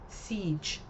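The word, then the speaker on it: Sige: It's pronounced siege.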